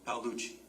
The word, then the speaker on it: Palucci: So, and I'm sorry, how do you say your last name? Is it Palucci? Palucci. Palucci, okay.